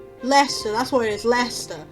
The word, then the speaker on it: Leicester: It's like bloody Worcester, but it's spelled Worcestershire, but it's not. Leicester, that's what it is, Leicester, that's what.